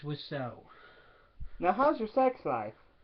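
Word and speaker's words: Wiseau: by Tommy wow which I always pronounce wiso because that's how it's spelled but no it's was so now how's your sex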